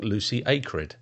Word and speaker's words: Lucy Acred: is X job downloaded and today I'm interviewing Lucy acred have I said it right this time you